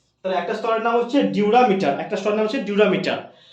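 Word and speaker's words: dura mater: রয়েছে একটা হচ্ছে ডিউরামি ডিউরামিটার কি নাম একটা স্তরের নাম প্রথম স্তরের নাম হচ্ছে ডিউরামিটার কি বললাম ডিউরা ডি ইউ আর এ ডিউরা মিটার ওকে তাহলে একটা স্তরের নাম হচ্ছে ডিউরামিটার একটা স্তরের নাম হচ্ছে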